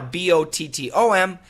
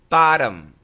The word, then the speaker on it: bottom: This is not a glottal stop T. It's a flap T, which in American English sounds like a D. So bottom, bottom, bottom. And it's an M sound. Your lips must close.